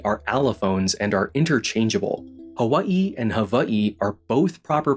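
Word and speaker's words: Hawaiʻi: Some native Hawaiian speakers today will insist that you call the place Hawaii and that the W is supposed to have a V sound.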